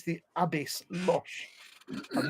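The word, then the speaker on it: Łoś: It should be L with a line through it, O, and then S with an accent, but they haven't got them in the name. It's Loche.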